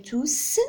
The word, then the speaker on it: tous: Donc, on prononce S à la fin dans tous, parce que ce n'est pas un adjectif indéfini. Lorsqu'il est adjectif, lorsqu'il précède un nom, on dit tout.